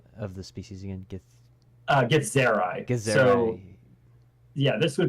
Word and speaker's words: Githzerai: And as I do so, I'm gonna just kind of the gith is wait, can you pronounce the name of the species again? Githzerai.